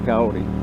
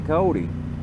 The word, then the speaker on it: Coyote: And there's a long story behind how I actually got the name Coyote, but it's actually pronounced Coyote, but everybody says Coyote, so we'll go with Coyote.